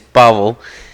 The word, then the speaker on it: Pavel: Okay, I say Pavel. But one of the many names. The correct pronunciation of the name is Pavel.